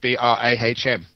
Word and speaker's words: Brahm: Okay, just Google in B-R-A-H-M, Brahm. And if you want to know how that's spelled, it's B for Buddhist, R for Roman